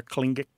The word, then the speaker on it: Tlingit: 29 for Inuit, 3 for Yupik, and 5 for Tlingit. Or Tlingit, some people say it.